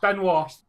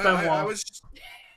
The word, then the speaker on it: Benoit: Or is that Benoit? Benoit. It's Benoit. Okay. It's pronounced Benoit.